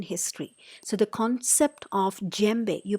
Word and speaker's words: djembe: So the concept of djembe, you pronounce it as djembe.